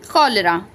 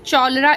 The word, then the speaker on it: cholera: क्लियर होगा कॉलरा कॉलरा हम इसको यहां पर च साउंड नहीं पढ़ रहे चौल इस तरीके से नहीं बोल रहे हैं या फिर शौल नहीं बोल रहे हैं इसको क्या पढ़ रहे हैं हम कलरा पढ़ रहे हैं यहां पर क साउंड प्रोनाउंस हो रहा है कॉलरा यहां पर करेक्टर